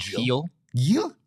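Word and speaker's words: Gil: starting starting pitcher tonight his last name is pronounced heel heel heel heel he just a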